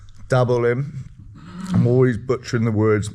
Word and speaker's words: Dabolim: The plan is to go from where we are, which is Diablim. Am I pronouncing that right? Dabolim.